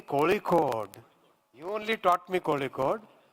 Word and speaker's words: Kozhikode: Say Kozhikode. You only taught me Kozhikode. Why say Calicut? I was always asking what is the right pronunciation. So Muralidharan ji told me it has to be pronounced Kozhikode, not Calicut.